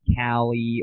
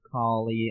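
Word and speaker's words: Kali: ass already if you think it's pronounced Callie or Collie. I don't know. I think it is Callie. It doesn't matter. Okay, you guys know what I'm talking about. K A L I.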